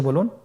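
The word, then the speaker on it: ب: বা হরফে টান হবে, এক আলিফ টান। আপনারা আমার সাথে বলুন বা, আবার বলুন বা।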